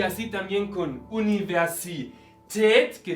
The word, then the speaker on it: Universität: y así también con universität, que viene de université en francés y por eso pronunciamos la última sílaba.